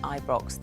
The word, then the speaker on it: Ibrox: I was like, did I get the Did you say pronunciation? Ibrox? Yeah, it is Ibrox.